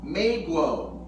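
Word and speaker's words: 美国: China is pronounced Zhengguo and America Meiguo.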